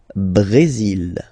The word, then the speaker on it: Brésil: Le Brésil. Okay, you will pronounce the final L here. And then remember, accent aigu goes like E.